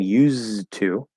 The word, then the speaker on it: used to: things happening there um notice i'm not saying used to right um so i'm changing i'm actually making an s sound instead of a z sound uh the d is disappearing and the t and two is staying and this the as